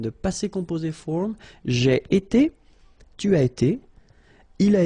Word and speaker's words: été: itself every time, and it's pronounced like été. Été.